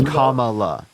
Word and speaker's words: Kamala: thing as literally right mispronouncing her name on purpose her name is Kamala that's not that's that's